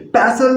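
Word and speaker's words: pestle: इसमें टी को साइलेंट करके बोलेंगे पैसल द गार्लिक।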